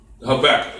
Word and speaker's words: Habakkuk: Just do you pronounce it Habakkuk? Habakkuk, yeah.